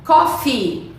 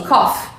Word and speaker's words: coffee: Coffee. Coffee. Você tem que falar esse I prolongado, porque tem muita gente que fala assim, cough.